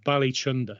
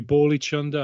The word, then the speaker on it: Bali Chunder: the name properly i it's bali chunder it might be ball each under i have no idea you know but bali you had it right the first time man oh dude okay